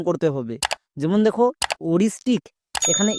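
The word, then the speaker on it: aoristic: এখানে কি করব? পরের ভাওয়েলটিকে সাইলেন্ট করে দেব, তার মানে ওটাকে উচ্চারণ করার দরকার নেই, শুধুমাত্র এর উচ্চারণ করব। এর জন্য ও, আর আই এস এর জন্য রিস, তাহলে ও plus Rhys ওরিস। টি আই C tick, ওরিস্টিক।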